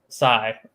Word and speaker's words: Tsai: with Joe Tsai, or I guess that's how you pronounce his last name, to demonstrate understanding. Tsai. Yeah, like the short knife that Raphael of the Ninja Turtles that was a weapon he used to wield.